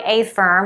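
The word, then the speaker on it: AFRM: This is such a cool jacket, and it's by Afirm, which is spelled A-F-R-M, which is one of my personal favorite brands that Nordstrom and Revolve carries.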